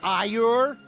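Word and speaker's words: Ægir: Dude, when I found out that Aegir is pronounced Ayur, I'm like, where's fucking Tassadar and Phoenix, the Praetor, and all that shit?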